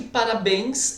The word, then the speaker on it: parabéns: Depois aqui, parabéns, essa palavra só existe no plural. Tá? Meus parabéns, os parabéns. Então vamos lá, pessoal. Parabéns, sílaba tônica é o bens, evidentemente.